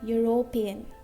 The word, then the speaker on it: European: European. Okay? Yeah, yeah. European. So here, this is not a vowel sound. It's a consonant sound.